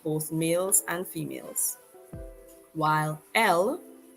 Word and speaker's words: elles: While L, spelled with the S but pronounced just like the singular form ELLE, is used to refer to a group of females only.